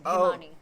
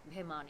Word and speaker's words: Bhimani: so it's silent ish if you're Indian it's bimman but if you're if you're saying it like with the Indian accent it's bman bman but it's it's even like it's not an extra syllable it's a little tricky it's kind of an Indian practice but my first name